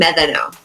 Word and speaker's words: Medano: Well, it's actually like a TH sound, Medano. That's how you say it in Spanish, Medano.